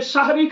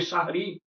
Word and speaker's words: সাহারী: শব্দটা রমাদান মাসে যে সাহারি খাই আমরা রাত্রিবেলায় এই শব্দটাকে আলেম ওলামা থেকে শুরু করে সব মানুষ সেহরি সেহরি শব্দটা উচ্চারণ করি। অথচ সেহরি শব্দটা অত্যন্ত আপত্তিকর একটি শব্দ। শব্দটি হবে শাহারী।